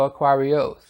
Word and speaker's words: Aquarious: and I found out in Italian it's Aquario, and it's Aquarius in English, so Aquarios. Excuse me, yeah, Aquarios.